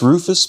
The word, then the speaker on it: Ruffus: sorry about that um it's pronounced Rufus but it's spelled ruffus yeah neither do I